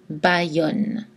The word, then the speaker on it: Bayonne: Mais on prononce aïe dans mayonnaise, cobaye, bayonne.